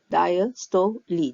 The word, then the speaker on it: diastole: called the diastoli phase this was pronounced diastole Lee the Le is pronounced at the end okay uh so in